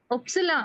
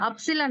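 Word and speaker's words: Ypsilon: யா y வந்து எப்சிலான் y வந்து எப்சிலான் எப்சிலான் அப்சிலான் இல்ல எப்சிலான் எப்சிலான் நம்ம வந்து இட் ன்னு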